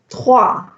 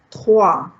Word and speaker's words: trois: How to say number 3? Trois. Trois. Remember, the OI has a wa sound. Trois.